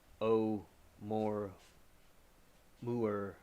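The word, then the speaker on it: ʻOumuamua: and pronounced like a child started by cow o Mo mo mo okay so that word is pronounced o Mo Mo oh mo mo was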